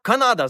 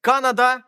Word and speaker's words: Канада: часто передаючи написання вірна ми плутаємо наголос бо очевидно на мапі чи в підручнику не пишуть на який склад наголошується і так ми маємо само замість самого Канада замість Канада Панама замість Панама А якщо забуваєте послухайте